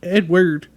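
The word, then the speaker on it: Eadweard: SP I gotta think it's Edward but the way it's spelled e a d w e a r d Edward yeah Edward muybridge's animal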